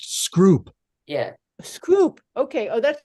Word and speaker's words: Scroop: It's pronounced Scroop.